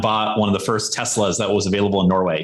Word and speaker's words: Tesla: Ole is Norwegian, and he had gone out and bought one of the first Teslas that was available in Norway.